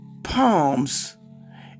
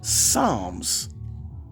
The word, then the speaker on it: Psalms: You don't even have to go to church regularly to know that the book is pronounced Psalms.